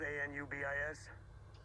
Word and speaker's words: Anubis: is an obvious anubis spelled a-n-u-b-i-s uh-huh it's pronounced anubis the crew of this